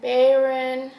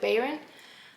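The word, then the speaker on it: Bayron: Cinderella is dead by Kalyn Barron I think that's how you pronounce it Baron uh this has been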